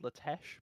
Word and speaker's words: LaTeX: okay those PDFs are made in a program called latesh but it's spelt the same as the word latex yeah it's French so the website name